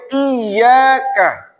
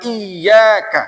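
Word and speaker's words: إيّاك: Sampai iyyaka wa iyyaka. Nah, itu juga tasdid. Kebanyakan para imam itu lupa dibacaan iyyaka ada tasdidnya. Bismillahirrahmanirrahim.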